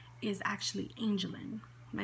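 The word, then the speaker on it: Angelynne: It's actually Angel, and then it's Y-N-N-E, Angelin.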